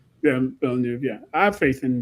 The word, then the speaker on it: Villeneuve: But I mean, I I do have faith in Danny Uh sorry, I was pronouncing it wrong. Danny W or whatever. Villeneuve. Yeah, Villeneuve, yeah.